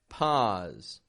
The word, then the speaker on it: pause: People will round their lips to make an ow, saying low, pose. Our goal is to learn a new habit, to teach our muscles a new habit, keeping the lips neutral and the tongue low in the mouth when we make this ah sound.